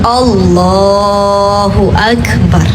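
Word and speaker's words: الله أكبر: Nah nggak boleh ya nak, bacanya yang benar Allahu Akbar gitu. Jadi lafaz ba pada kalimat akbaru itu nggak boleh dipanjangin ya. Kemudian ba-nya pada lafaz akbaru tidak dibaca tasydid. Allahu Akbar gitu.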